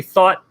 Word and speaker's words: Thoth: of Thoth and which think about thought because that's really how it's pronounced it's it's truly thought and there is a